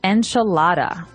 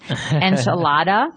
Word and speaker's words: enchilada: and just a warning you're going to hear me say the American pronunciation enchilada and you're gonna hear Marco say a more appropriate a little bit with a more Hispanic accent to it that's right so the